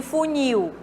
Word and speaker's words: funil: Na letra C, fúnil e funil. Será que é correta essas duas pronúncias? Bom, aí é que tá, né? Aqui no caso dessa palavra não é aceitável, tá, turma?